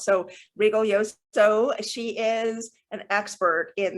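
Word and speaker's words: Rigoglioso: for you you today her name is margarit Regal yoso it's very important to pronounce her last name properly we have learned it often gets mispronounced so Regal yoso she is an expert in the feminine the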